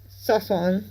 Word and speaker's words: Sasson: is his name pronounced basically like sauce and then lawn Sasson yeah it's okay we're